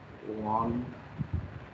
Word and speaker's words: Von Schlippe: Temple and Wanshippe. So pronounce the name very carefully, right? On L-I is soundless, Wanshippe, Temple and Wanshippe model.